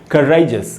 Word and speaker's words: courageous: यहाँ लिखा है दोस्तों करेजियस, रै में जो ए है उसी पर स्ट्रेस है, उसको अंडरलाइन किया मैंने, इसको बोलेंगे करेजियस।